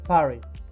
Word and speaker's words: Paris: But in English, we say Paris.